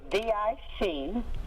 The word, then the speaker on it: diclofenac: I can't even pronounce the name. But the spelling of it okay. is DICLOFENAC.